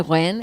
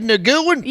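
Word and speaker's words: Nguyen: win was so funny like cuz nobody ever knows how to say win. It's like cuz it's spelled N guan not in the south like everyone in the south Ted Naguan Ted Nan.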